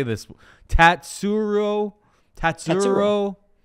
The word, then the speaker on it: Tatsuro: i say this one tatsuro tatsu pretty easy say it phonetically say it just say phonetically tat tat surro tyra he takes on